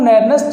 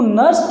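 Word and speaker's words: Nernst: एक जानकारी आपको होगी शायद कि हमें ईएमएफ निकालना है तो फ्रॉम नेर्नेस्ट इक्वेशन। इसके प्रोनाउंसिएशन अलग अलग है, कोई इसको नेर्नेस्ट बोलता है ना, कोई इसको नर्स्ट इक्वेशन बोलते हैं।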